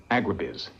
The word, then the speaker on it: agribiz: The future's the giant corporate farm, agribiz, with the accent on the last syllable.